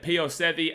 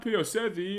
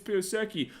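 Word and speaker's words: Pio Seci: and say, it's not Pio Sevi, it's Pio Seki. Well, C in Fijian is pronounced TH for people who don't know.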